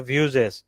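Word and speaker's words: Vue.js: তারপর রিএক্ট এর মতোই আরেকটা হচ্ছে ভিউ জেএস। এটাকে অনেকে ভু বলে। তো ভিউটাই হচ্ছে মূলত ওদের অফিশিয়াল ডকুমেন্টেশনে ওরা বলেছে এটার নাম এটা উচ্চারণটা অনেকখানি কিসের মত ভিউ এর মত এটা ভিউজেস ঠিক আছে লিখে হচ্ছে ভি ইউই বাট উচ্চারণটা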